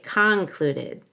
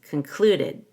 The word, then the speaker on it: concluded: the grass Mindy concluded make sure you don't say concluded it's concluded so the c-o-n is reduced to a schwa and you stress the clue cluded concluded but come down